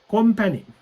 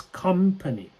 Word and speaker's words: company: people sometimes they say company that's incorrect yeah it's not calm it's company company right company yeah